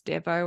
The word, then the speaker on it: Desveaux: in one click because even though we're pronouncing your name as your surname as Deo it's not pronoun uh not spelled that way sorry so definitely check